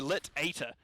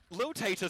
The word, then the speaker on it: Lit Tater: Lil Tater sounds far funnier to me, though, so I kind of want to continue that, but Lit Tater is going to be the correct way to say it, so I will say it that way.